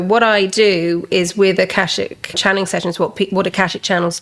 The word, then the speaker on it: Akashic: So, did I pronounce that right? Yeah, Akashic.